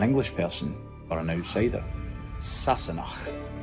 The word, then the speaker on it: Sassenach: Today's word is Sassenach. Means an English person or an outsider. Sassenach.